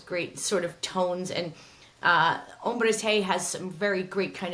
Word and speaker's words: Hombres G: Spain, and they're called Hombres Hey. And when I say hey, that's actually the way that you pronounce the letter G in Spanish.